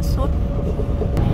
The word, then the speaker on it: sud: South tiếng Pháp nó đọc là sud.